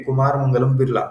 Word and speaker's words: कुमार मंगलम बिरला: कुमार मंगलम बिरला ये इनका नाम है। सॉरी मैंने गलत प्रोनाउंस कर दिया, लेकिन ठीक है, कुमार मंगलम बिरला।